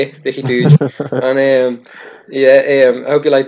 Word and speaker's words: Riqui Puig: Anyway, tell your mates that's how you say it, Riqui Puig.